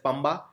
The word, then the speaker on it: Pampa: Pampa Declaration. It's a 7-point action plan for conservation of the river Pampa. It is also sometimes pronounced as Pamba.